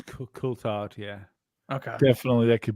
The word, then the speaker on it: Coulthard: I think it's Coulthard, yeah.